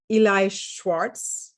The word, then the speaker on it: Eli Schwartz: My guest today is Eli Schwartz. Do I pronounce it okay?